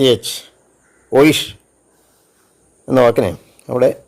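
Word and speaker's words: euch: ഇ യു രണ്ട് അക്ഷരം അത് ചേർന്ന് വരുന്നതിന് ഷ ഉച്ചാരണം വരും ഇ യു സി എച്ച് ഓയിഷ് എന്ന വാക്കിന് അവിടെ സി എച്ച് വരുന്നത് അങ്ങനെയാണ് ദി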